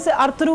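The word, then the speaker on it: Ertuğrul: मुझे कहीं अर्तुगल में, इसको अर्तुगल नहीं कहते हैं, अर्तुगल कहते हैं जो अच्छा। उनका अपना लैंग्वेज है चाहे टर्किश में, तो और उसकी प्रोनाउंसिएशन में दिस इज अर्तुगल। अच्छा।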